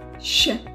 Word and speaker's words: Ш: Sh and sh. So, that to understand how to pronounce these letters, you need to understand where they came from. The letter sh. Sh. Sh. Like in English word, show.